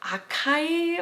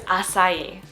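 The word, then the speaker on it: açaí: Most people would say something maybe like akai, or I honestly don't know how you would pronounce this word. The correct pronunciation of this word though is acai, acai.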